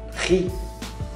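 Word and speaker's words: riz: Arroz, ri, é como se você estivesse rindo, ri, então não pronuncie o Z.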